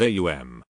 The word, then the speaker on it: aum: The right use in Hindustani is aum. Therefore, we will consider it in this light. A is a guttural sound. As you pronounce it, you will note it starts in the throat. To pronounce U, the lips must be thrust forward. M you will note is formed by pressing the lips together causing a resonant tone like the humming of a B.